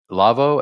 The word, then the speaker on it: Lawo: do you spell that lavoo L A wo sounded like La V to me but that's fun well that's what you've always said but I'm telling you the Germans pronounce their W's like these what can I say